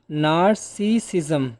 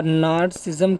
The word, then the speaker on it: narcissism: the final word narcissism narcissism a little bit tough to pronounce but you can see it's spelling nar na rci double sism narcissism what does it